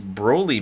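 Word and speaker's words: Broly: go G de from the bro Lee movie not Brawley bro yeah I'm trying to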